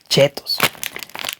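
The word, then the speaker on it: Cheetos: Aquí en México así lo pronunciamos, chetos. Yo sé que en Estados Unidos lo pronuncian distinto.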